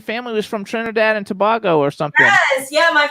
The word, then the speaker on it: Tobago: Don't feel bad, because a lot of people sometimes do pronounce it. I guess depending on where you come from, you pronounce it differently. So yeah, but Tobago. In our island, we say Tobago.